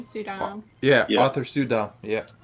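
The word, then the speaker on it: Suydam: Is that how you pronounce his name? Sudam.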